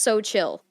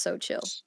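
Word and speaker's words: Xochitl: it yeah it's pronounced so chill it's literally pronounced so chill so chill damn it dude um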